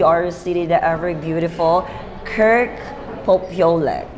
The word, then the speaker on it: Popiolek: City, the ever beautiful, Kirk Popiolek. Yes. Did I pronounce it well? Yes, you got it right.